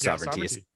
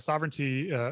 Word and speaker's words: SOVRNTY: And sovereignty, so it's spelled differently. It's SOVRNTY, is a domain.